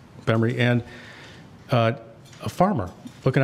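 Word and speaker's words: Gbemre: Nigeria the B case it's spelled GB M re I've written about it but it's bemory and uh a farmer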